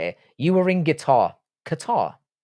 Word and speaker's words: Qatar: Qatar. I love how people pronounce it as guitar.